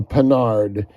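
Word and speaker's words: Panhard: 1968 a French car called a penard or spelled like pan hard a penard and this car it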